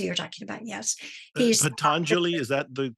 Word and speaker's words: Patanjali: Is it pronounced Pandanjali? Pandit, yeah, Rajmani Chiganayat, yeah, or Patanjali. That's who you're talking about. Yes, he's Patanjali, is that the correct Patanjali.